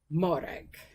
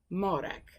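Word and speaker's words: Mòrag: little tip on pronouncing it some tips on pronouncing some of those Gaelic names starting of course with modak so that is Sarah's name in Gaelic which is modak then of course there his mother named her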